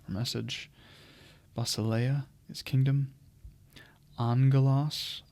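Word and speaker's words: ἄγγελος: message basa is Kingdom Angelos again that has that gamma nasal where you see gamma gamma that's pronounced with the n Sound and a g Angelos curios Lord master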